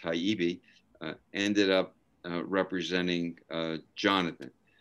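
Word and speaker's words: Hibey: wife anne pollard and richard hyby otherwise pronounced haibi ended up representing uh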